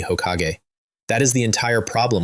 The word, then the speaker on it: Hokage: You want to be Hokag. Yes, say it properly. I have always wanted to be Hokage.